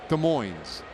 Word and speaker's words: Des Moines: De Moines. They pronounce the S here.